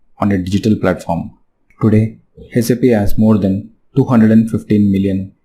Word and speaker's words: SAP: People often want to know how do you say SAP. Since it is an acronym, it is pronounced as individual letters SAP. SAP is not pronounced as the word SAP.